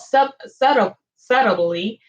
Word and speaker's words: subtly: Therefore, the king of Egypt rose up against them and dwelt subtly with them. I always want to pronounce the T, and the T is silent.